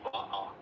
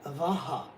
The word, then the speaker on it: va'a: In Hawaiian, ho'i va'a. That is the canoe paddler. Okay, can I say it? Ho'i vaha. Did I say it right? Va'a. There's no H.